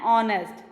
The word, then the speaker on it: honest: the vowel beginning with silent h and are and honest so here also the word has a silent h so here we are